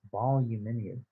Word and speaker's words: voluminous: Volume It's like volume v o v o l u m i n o u s.